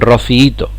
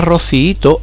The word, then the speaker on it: rociíto: han hecho mal porque la palabra rociíto al ser un hiato de los que sí respetan las reglas de acentuación nos encontramos en esta palabra con fijaos cuántas sílabas rob sí y todo con cuatro lleva el golpe de voz en la y de rociíto en la segunda por lo tanto es